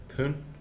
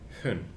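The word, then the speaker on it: 分: Pronounced either pun or hun, depending on the counter.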